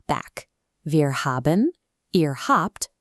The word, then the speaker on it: habt: Wir haben, ihr habt, pronounced with a hard p, and sie haben.